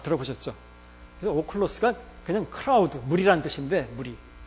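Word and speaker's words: ὄχλος: 거기 헬라어 오클로스라고 읽는데, 오클로스. 이거 오클로스. 여기 람다고 여기 L 발음이에요. 오클로스.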